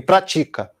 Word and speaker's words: pratica: Agora, vamos variar a palavra para paroxítona. Valida e pratica. Um, dois, três, valida. Um, dois, três, pratica. Um, dois, três, valida. Um, dois, três, pratica. Quando acaba o compasso, coincide com a sílaba tônica.